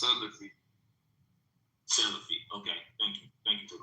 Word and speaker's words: Salafi: No, I was saying it's pronounced Salafi.